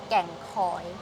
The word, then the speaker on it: Kheng Khoi: So make sure you get the pronunciation of Kheng Khoi correct. Thai pronunciation which is Kheng Khoi.